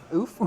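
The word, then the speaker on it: Ouphe: It's pronounced oof, like you got kicked. oof. Oof. Not hoof. That's the sound you make when a horse kicks you.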